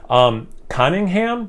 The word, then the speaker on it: Conyngham: Conyngham, I believe is how you pronounce it, Brewing Company.